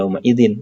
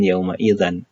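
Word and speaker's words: يومئذٍ: Itulah mengapa kita membacanya "yaumaidin", bukan "yaumaidan" atau "yaumaidun", ya.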